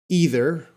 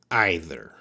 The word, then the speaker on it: either: can be these words these words can be pronounced two ways so the first one either or either and the second one neither or neither so what am I